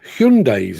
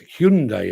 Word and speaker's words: Hyundai: they certainly love their hundes I'm just going I'm pronouncing that correctly I hope um Gary mad says you're saying it wrong Mark yes hyai apparently is the way to say it um Dan cin says